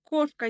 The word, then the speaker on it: кошка: Мысалы, кошка деген сөзде ударение бірінші буынға түсіп тұр.